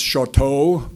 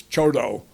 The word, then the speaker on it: Choteau: For those of you who speak French, it looks like it's Choteau, but that's not how they pronounce it in Montana. It's Choteau.